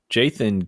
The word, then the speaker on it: Jaythan: It sounds like his name is Jason. And it was only 2 pairs, so 4 total earrings. But it's spelled Jaythan. It's spelled like Jonathan, but Jaythan. Like somebody had a speech impediment and called him.